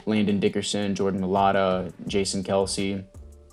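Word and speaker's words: Kelce: dickerson jordan milada jason kelsey let's actually pronounce jason kels but everyone just calls him kelsey so whatever it doesn't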